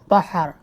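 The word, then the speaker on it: بحر: বাহার বাহার অর্থ সাগর বাহার হা হবে এখানে হাবে না আজমি নবীরা বাহার উচ্চারণ করে এটা শব্দ হবে বাহার বাহার অর্থ সাগর বাহার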